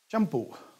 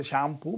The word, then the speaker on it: shampoo: Shampoo. Generally we say shampoo, but it's shampoo, that's the right pronunciation.